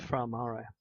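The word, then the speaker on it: Fra Mauro: the mission Apollo 14 to fra Maro it's pronounced fra Maro as we go in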